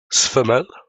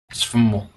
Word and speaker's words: SFML: Sfamel? SFML. Sfamel. Some things just should never be pronounced as a word.